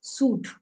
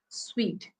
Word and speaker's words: suite: picture of a sweet but generally we call it as suit but the correct pronunciation is sweet right we booked a